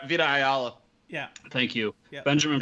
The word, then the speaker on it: Vita Ayala: So it's got, Vita Ayla. I can never pronounce her name. Vita Ayala.